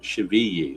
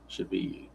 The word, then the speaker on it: Chavigny: And he is pronounced Chavigny. That's how it's pronounced. Chavigny.